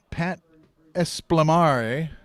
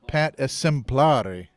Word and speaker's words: Pat Essemplori: at the 32-yard line pat esplamari okay i butchered that name it's pat essemplori eddie smink is back